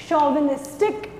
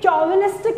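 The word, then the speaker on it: chauvinistic: इसकी प्रोनाउंसिएशन है शॉविनिस्टिक। ये चॉविनिस्टिक नहीं है, please I am repeating this, चॉविनिस्टिक नहीं है, दिस इज शॉविनिस्टिक।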